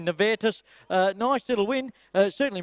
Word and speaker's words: Nevetus: nice win and uh nus is the correct pronunciation Jane tells me netus uh nice little win